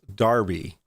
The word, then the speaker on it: Derby: quick I have Marcus leech that says is pronounced Darby because I'm sorry I'm I'm not British look